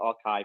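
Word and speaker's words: arXiv: website which is o it's called archive but it's spelled AR that that has all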